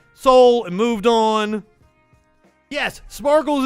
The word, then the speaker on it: Seoul: tune in for that so the Koreans pronounce it soul and your Vietnamese X pronounced it sale oh no I